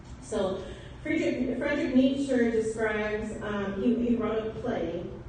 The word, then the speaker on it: Nietzsche: Friedrich Nietzsche is how you say that last name. Nietzsche.